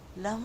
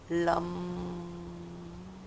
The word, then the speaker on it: लं: जब हम लम का उच्चारण करेंगे तो अपनी जीभ को तालू से लगाकर ल जैसे